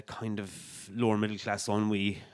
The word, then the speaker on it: ennui: And so they get married and, drift into kind of lower middle class ennui, or NUI as you used to call it before I ever heard the word pronounced properly.